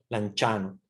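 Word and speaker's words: Lanciano: eucarístico de lanchano lanchano se escribe el anciano con c pero en italiano se pronuncia lanchano miren Para que vean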